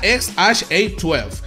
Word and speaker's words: X Æ A-12: El nombre se pronuncia XHA12 y su significado es